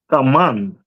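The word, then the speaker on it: כמון: Kaman.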